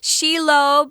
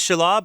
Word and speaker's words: Shelob: I heard Shelob, I heard Shelob, I heard Shelob. I heard lots of different pronunciations of this particular evil creature.